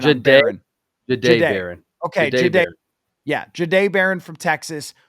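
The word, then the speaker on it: Jahdae: We just looked up the pronunciation on Baron. Jade Baron. Okay. Jade.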